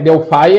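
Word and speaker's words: Delphi: né o d Delf aqui é Delf delfy é a pronúncia correta então isso Delf Fire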